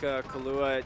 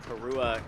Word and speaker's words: Karua: It looks like Kalua down at the bottom. I believe it's technically actually pronounced Karua.